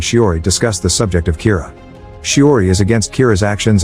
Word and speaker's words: Kira: this and calls him Kira which is the Japanese pronunciation of the word killer some people are in